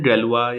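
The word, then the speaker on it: Galois: कुछ वर्ड हैं जो फ्रेंच हैं, तो फ्रेंच वर्ड होने की वजह से देखिए हम लोग उनको वाया इंग्लिश पढ़ते हैं, तो हमारा प्रोनाउंसिएशन कई बार गलत हो जाता है। तो थोड़ा सा ध्यान रखिए। जैसे कुछ फ्रेंच मैथमेटिशियन, 2 तो मैंने यही लिख दिए, तो इनको प्रोनाउंसिएशन गैलोis या लबेड है।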